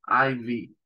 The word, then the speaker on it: IV: y latina de corta la i latina en inglés se pronuncia hay el diptongo hay Sí y la vez corta en inglés se pronuncia vi por eso es Ivy es la abreviatura en